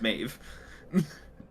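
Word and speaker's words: Medb: is mine you know so D is spelled with a B this is the original Irish way of spelling it before it gets anglicized huh huh fun fact Meb is mave um okay KNX heads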